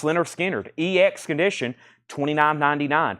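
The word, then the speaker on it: Lynyrd Skynyrd: for Presley we have o pronounce Leonard skinnard ex condition $29.99 pronounced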